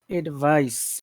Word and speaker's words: advice: So uh, advice. advice, Like advice, s.